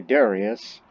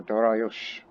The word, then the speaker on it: Dariush: Now, that name, we Westerners often say Darius, but it's Darius or Dariush, with the H at the end.